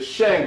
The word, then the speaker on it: Shang: Finally, in China, you have um the Shang dynasty, S H A N G.